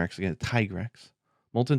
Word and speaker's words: Tigrex: three yeah yeah so molten tigrex i said tigger actually again tigrex molten tiger x is definitely the correct pronunciation is it's not a no dragon i